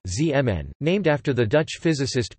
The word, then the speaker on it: Zeeman: The Zeeman effect, Dutch pronunciation, Zeeman, named after the Dutch